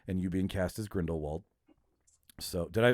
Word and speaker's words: Grindelwald: They were like, this is too much heat for us to handle with Fantastic Beasts and you being cast as Grindelwald. So did I pronounce that right, Martin?